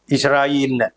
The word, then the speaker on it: ഇസ്രായേൽ: ഏതെങ്കിലും തരത്തിൽ ഇസ്രായേൽ എന്നാണ് ശരിയായ ഉച്ചാരണം.